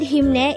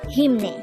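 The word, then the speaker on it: 힘내: this is pronounced as a two-syllable word the first syllable is him the second syllable is pronounce it with me the word hemne is used to say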